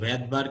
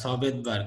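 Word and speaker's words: Svedberg: আবার বলছি এস হচ্ছে ভেদবার্গ ইউনিট বা ভেদবার্গ একক এটাকে ভেদবার্গ বা সভেদবার্গ দুইটাই ভাবেই উচ্চারণ করা যায় কেউ এস সহ উচ্চারণ করে স ভেদবার্গ কেউ এস কে সাইলেন্ট রেখে উচ্চারণ করলে ভেদবার্গ ইউনিট হিসেবে উল্লেখ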